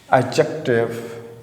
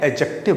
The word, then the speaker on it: adjective: Noun, pronoun, एडजेक्टिव, ठीक है। ADJECTIVE, ठीक है बेटा। इसको लोग पढ़ते हैं ना, इसको कैसे बोलते हैं? डी को साइलेंट करते हैं, एडजेक्टिव बोलते हैं।